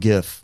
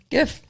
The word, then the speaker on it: GIF: Well, graphic is a soft G. So, I'm going with GIF. Mhm. GIF.